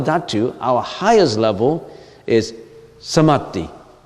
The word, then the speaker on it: Samadhi: Okay, in the world of desires, Kama Dhatu, our highest level is Samadhi. It's spelled S-A-M-A-D-H-I, Samadhi.